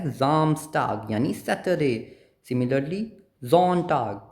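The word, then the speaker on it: Samstag: एस के बाद क्या है वोवेल सो ये साम्स टग नहीं है ये क्या है जामस्ट टग यानी सैटरडे सिमिलरली ज़ोन टग संडे ओके अगर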